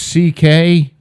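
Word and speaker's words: Székely: It's pronounced C.K., right, but so he just did C.K.?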